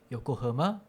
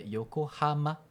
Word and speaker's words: Yokohama: O senhor falou, não falou yoko yokohamã, mas é yokohama. A vogal é não é ã, é a.